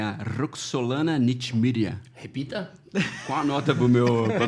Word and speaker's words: Roxolana Nechmyrya: nós estamos aqui com a nossa ilustríssima convidada, que é a Roxolana Nitmiria. Repita. Qual a nota pra minha Tá pronúncia? certo. Tá certo. Acertou mesmo. Roxolana Nitmiria.